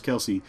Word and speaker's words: Kelce: in fact I thought Travis Kelce or is Travis Kel sorry I say Kelsey all the time cuz somebody mispronounced that once and it's firmly implanted in my brain that way I thought he should